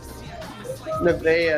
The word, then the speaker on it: Nevaeh: Nevaeh, that's how you say her name.